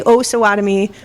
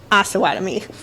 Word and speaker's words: Osawatomie: And it only took me 4.5 years to learn how to say Osawatomie properly. It is not Osawatomie.